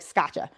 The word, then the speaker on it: Scaccia: A lot of people don't know how to pronounce my last name, so I'm like Gotcha Scotcha. It's not not one of those fancy Italian last names. It's just hard like Scotcha.